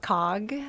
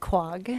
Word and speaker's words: Quogue: Quogue? Oh. I want to pronounce it COG. COG, everyone there pronounced it Quag.